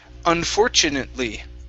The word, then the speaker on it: unfortunately: to this word here unfortunately unfortunately unfortunately okay give me a li at the end instead of unfortunately lee unfortunately there you go good